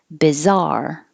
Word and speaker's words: bizarre: over here qualitatively bizarre so two syllables stress on the second syllable bizarre bizarre and the same